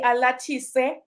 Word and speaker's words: Alatise: From Zimbabwe would actually say Alatise. Oh, so The SE is a se, not a share.